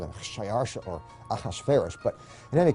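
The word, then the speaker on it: Xšayāršā: His Persian name, in Old Persian, which is his original native language, is Shayarsha. Now that was hard for the Jews to pronounce, so they said Ahashverosh.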